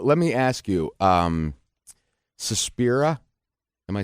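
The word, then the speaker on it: Suspiria: me so well let me ask you um sespa am I saying it right susperia yes I actually okay so like you you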